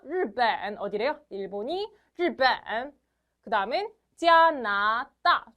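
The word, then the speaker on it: 日本: 발음해 주시는게 가장 좋아요 르 발음 좀 어렵죠 르벤 한번 더 르벤 좋아요 번 아니에요 르벤 어디래요 일본이 르벤 그다음엔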